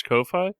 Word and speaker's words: Ko-fi: I'm pretty sure it's Ko-Fi.